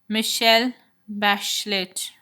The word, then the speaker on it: Michelle Bachelet: That girl, Michelle Bachelet, pronounced Michelle Bachelet, was elected president of Chile in January.